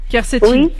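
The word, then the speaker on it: quercétine: changer votre alimentation com comment ça se prononce kertine avec Q kercetine oui u e r c e t i n e h et ça c'est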